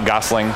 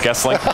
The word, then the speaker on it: Goessling: It's not Gossling, it's Gestling.